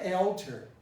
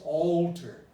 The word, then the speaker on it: altered: older to change older the l is the problem remember alder this is a d it was transformed into a d and then it became it became a schwa now listen you don't know this is not altar it's not altar it's not altar altered it is altered so when there is